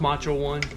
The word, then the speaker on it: Macho 1: Pronounced Macho One. That's at least how the announcers used to say it.